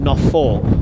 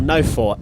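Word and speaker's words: Nothe Fort: at a place called Knopf Fort, or No Fort as it's correctly pronounced, but we still call it Knopf Fort, it probably incorrectly, and we still do 20 years on.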